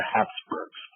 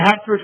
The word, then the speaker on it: Habsburg: H-A-P-S-B-U-R-G, or H-A-B-S-B-U-R-G, it's spelled both ways. The Habsburgs, right?